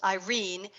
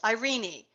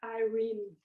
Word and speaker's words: Irene: when we were there, they know her as Aunt Reen, so it's Irene.